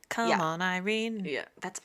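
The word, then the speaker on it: Yrene: r n yene infuriating Irene infuriating but it's pronounced Irene like come on Irene yeah that's e you dumbass it's come on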